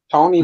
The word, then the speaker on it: Toney: Tony's Reviews. That's spelled TONEY, like James Tony.